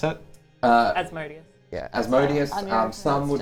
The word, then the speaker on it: Asmodeus: Asmodeus. Yeah, Asmodeus. Anya Some would pronounced pronounce it Asmodeus.